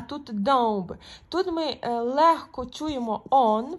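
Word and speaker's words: dąb: Наприклад, якщо ми маємо слово кут, так, польською кот, то подивіться, і маємо слово, наприклад, дуб, домб, так, ось так.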